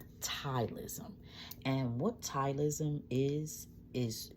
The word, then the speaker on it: ptyalism: from a condition called tyism. Tyism it is spelled P like Paul. T Y A L I SM. Tylism.